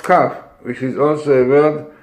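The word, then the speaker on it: כף: You can see the letter Kaf, pronounced Kaf, which is also a word for covering, Kaf.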